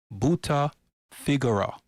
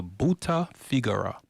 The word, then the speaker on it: brutta figura: Switching to Italian, he called it a brutta figura. Let's pronounce it again, a brutta figura, a phrase meaning a bad or embarrassing impression.